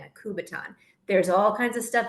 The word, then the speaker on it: Kubaton: a t o n kubaton so just like a baton but put K yeah KU in front of it kuu b a t o n a kubaton there's all kinds of